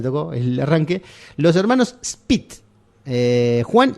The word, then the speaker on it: Szpyt: Los hermanos Spit, Juan y Lucio Spit. Se escribe SZPYT, no tiene vocales.